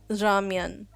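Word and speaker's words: 라면: So, like, like ramyeon.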